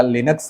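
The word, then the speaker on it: Linux: जो आपका है वो, अगर आपका लिनक्स है, लिनक्स, या बहुत लोग लाइनक्स भी प्रोनाउंस करते हैं, तो लिनक्स है तो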